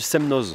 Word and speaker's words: Semnoz: ski de fond du Semnoz c'est ça bien bien prononcé on est au semno ou nous sommes au Semnoz comment on dit le X de Chamonix mais en prononce pas le je sais plus